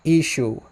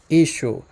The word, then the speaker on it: Ishu: But in the Western dialect, it's pronounced Ishu. Ishu.